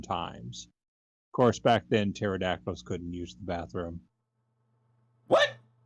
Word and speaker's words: pterodactyl: pterodact and pterodactyl the the word pterodactyl has a p in it and the p is silent also our mayor just